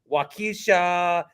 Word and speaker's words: Waukesha: wait to learn about your great cities um Waukesha and oh that's how you say it yes